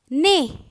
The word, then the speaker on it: nez: So whenever you see E accent aigu, E-R, E-Z, sometimes E-T, you pronounce it as A. Hérisson. Hérisson. H, E accent aigu, R-I-S-S-O-N. Hérisson. Panier. P-A-N-I-E-R, panier. Nez. N-E-Z, nez.